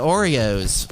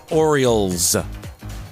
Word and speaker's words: Orioles: No, Orioles. That's how you say it. Yeah, it's not Areola.